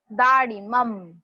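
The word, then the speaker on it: दाडिमम्: Again that incomplete ma. Dadimum. It is not like mama. अभी अभी जो हमने सीखा mama, my, वैसा नहीं है. This is mum.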